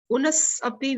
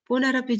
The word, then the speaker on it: punarapi: So how we pronounce? Punas Api we never pronounce. Punarapi Jananam, Punarapi Maranam.